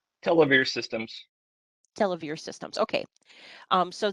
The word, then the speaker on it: Televere: Televere Systems.